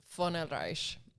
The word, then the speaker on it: Oelreich: Von Oelreich has a German ancestry to it. It's titled, and you pronounce it the V with an F, but it's VONOELREICH. So it's hell of a name.